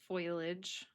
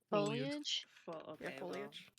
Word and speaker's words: foliage: There are unfamiliar foilage. Is that how you say it? Foilage. Uh, foliage. Okay.